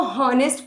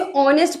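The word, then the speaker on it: honest: तो ऑनेस्ट क्या हम इसको हनेस्ट पढ़ते हैं? नहीं। हम इसे ऑनेस्ट पढ़ते हैं।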